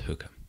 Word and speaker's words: Holker: The subtitle of this is Life and Gardening at Holker, which I think is pronounced hooker, according to Hugh.